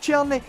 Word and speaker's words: Tierney: Aye, Tierney, that's how you pronounce it.